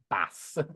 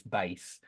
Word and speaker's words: bass: I know that that's very easy to look at and think bass. It looks like bass to me, but it's bass.